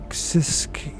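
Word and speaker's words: Siskiyou: July 2000 state California sis sisu County that's how I pronounce right s i s k i y u County location details the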